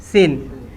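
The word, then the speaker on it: سين: তো লিখার দরকার নাই এরপরে আমরা চলে যাব সিন সিনের কয়টা দাঁত তিনটা দাঁত এই তিনটা দাঁত দেখলে বোঝা যাবে যে সিন ফাঁকা থাকলে সিন আর নুক্তা দিলেন শিন নাকি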